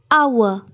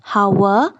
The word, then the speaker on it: hour: n listen F part h o u r our it's not how it's our H is silent n hour G part t w o